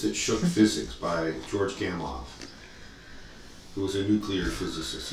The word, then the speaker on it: Gamow: It looks like it's spelled Gamow because it's Gamow, but it's Russian, and it's not a W, it's a double V pronounced V. George Gamow. Almost like two F's, technically.